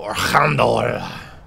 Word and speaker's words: Archandor: We gotta go kill Archandor. That's exactly how you pronounce his name, so don't question me on that.